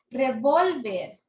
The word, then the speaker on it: revólver: Bol revolver Bull y Cuál es la clasificación grave porque es grave porque la tienen la penúltima sílaba la mayor fuerza de